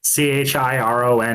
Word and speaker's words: Chiron: Technically C H I R O N is supposed to be pronounced Chiron because it's Greek.